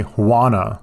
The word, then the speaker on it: Juana: damage I encounter a Juana j-u-a-n-a the J is silent we presume it is